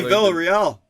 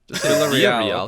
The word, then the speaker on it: Villarreal: Just say Villarreal. Villarreal. Okay.